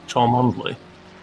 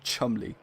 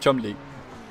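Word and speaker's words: Cholmondeley: Chalmondley. Chalmondley? It is, believe it or not, Chumley.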